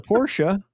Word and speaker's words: Porsche: It's Porsche. hilarious. It's hilarious to me. Like the phonetic. It's hilarious. Anyway. Porsche. It's pronounced BMW.